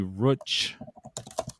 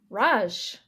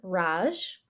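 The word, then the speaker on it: Racz: that what you said yeah it would be Roach I'm gonna look it up because we can CZ is pronounced CH in Polish punchki we're gonna listen to it Raj oh how was wrong she's not polish all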